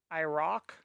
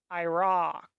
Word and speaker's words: Iraq: For instance, Iraq or Iran, the A is how you pronounce the O in octopus. Iraq. Iran. No. Ah. Iraq.